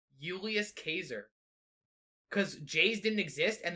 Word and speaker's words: Julius Caesar: it would be pronounced julius caser because j's didn't exist and the c-a-e is actually like a k sound so it's like a kazaar so it's like a euless kazaar yeah thank you jacob